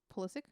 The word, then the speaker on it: Pulisic: And I think that's why we have Pulisic now, or how do you pronounce the name? Pulisic.